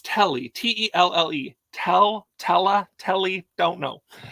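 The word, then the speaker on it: Telle: 2007, and it's by, I don't know how you pronounce her name, Tessie. No, it's Telly, T-E-L-L-E, Telly, don't know.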